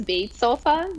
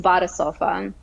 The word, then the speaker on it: BadeSofa: in the in in the United States uh pronounce it as uh incorrectly as B sofa just pathetically so we're doing a lot of Education of what that actually is um so it is pronounced as BofA and BofA actually sits in a really interesting